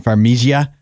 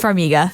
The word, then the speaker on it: Farmiga: He says Bates Motel, if we get to meet Vera Farmiga, I never know how to say her name. Farmiga? I think it's Farmiga. Farmiga, she is amazing.